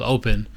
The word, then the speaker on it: OP3N: But there's another one called Open, which is spelled OP3N, and it says meet open-minded people.